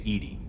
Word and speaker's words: EDI: are you named Edie? Oh, ED. ED is the phonetic pronunciation EDI, of sorry.